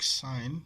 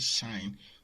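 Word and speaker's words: sinh: Now cos with h, okay, and the hyperbolic sine is written as shine. You can call it shine or you call it sine.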